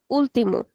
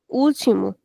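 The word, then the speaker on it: último: If I didn't have the accent here, then I would say ultim. But since there is an accent, I'll have to say orimo.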